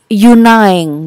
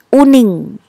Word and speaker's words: Uning: Pernah saya juga beberapa kali pengalaman ada orang salah menyebut nama saya, Yunaing gitu. Lalu saya berusaha membenarkannya, actually it's Uning.